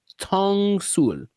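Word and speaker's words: 똥술: Ttongsul.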